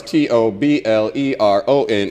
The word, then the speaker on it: Toblerone: ah I got it the ey is silent and also invisible hold the phone it's tobleron tire fire Shinobi I will